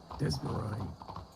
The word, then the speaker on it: Desmarais: Desmarais. Oh, okay. It is spelled completely different than how it sounds.